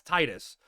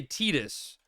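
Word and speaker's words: Tidus: So, I was like, that's that's Titus. But yeah, people say Tetus and I'm like I don't get it because like that's I literally, you know, heard the pronunciation, right?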